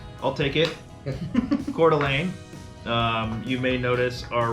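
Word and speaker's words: Coeur d'Alene: call it CDA um but cordelan is how you pronounce it not cordini cord Alain it's a tip right off the top when you when you have a phone call and there's a telemarketer that says cord Alini or anything like that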